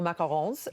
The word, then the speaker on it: macaron: But I'm joining Cam at the counter to enjoy your beautiful macarons. Are Orly and Ken. You guys dig in. And the reason I'm actually pronouncing him properly, macaron, is because you actually learned how to make them in Paris.